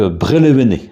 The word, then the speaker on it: Merlevenez: petites haltes maintenant à merlevenez donc brélévenez vers le bleu et néo breton tel qu on le prononce localement alors ce terme existe